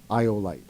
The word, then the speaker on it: Iolite: Iolite.